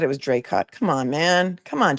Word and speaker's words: Dracut: I asked at the beginning of the stream, I said, "Somebody who really lives there, please tell me how it's pronounced." And they said, "Dray cut." And now you're saying Drake.